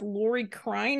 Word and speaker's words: Lori Krein: have with us another special guest we have Lori Klein in my pronouncing that correctly yes you are that's correct